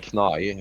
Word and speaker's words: Knai: we were saying before the stream, I was asking you the Uh, pronunciation because the Nordic would pronounce the K, right? They would yeah, Knai. Knai. Knai is the pronunciation.